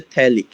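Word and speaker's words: phthalic: এটার বাংলা হচ্ছে থ্যালিক, উচ্চারণ হচ্ছে থ্যালিক।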